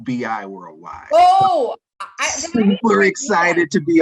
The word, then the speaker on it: BI Worldwide: And I must say, even though we're in the bi-state region, our company is pronounced BI Worldwide.